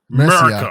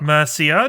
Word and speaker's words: Mercia: East Northumbria, sure, Northumbria, East Anglia, and Anglia, Mercia, Mercia.